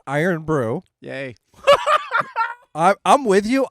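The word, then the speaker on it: Irn-Bru: hoping apparently it's pronounced iron Brew yay I I'm with you IR n BR r u there's no o it's iron brew and it's Scottish so it say Scottish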